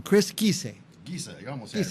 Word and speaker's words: Giese: Our next guest is, I always say it wrong, Chris Giese. Giese, you almost Giese. said it, right? Is it Italian or? It's German. German, okay, Yeah. Giese.